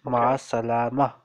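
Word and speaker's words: مع السلامة: Last vowel is silent. We ignore last vowel. So it is Masalama.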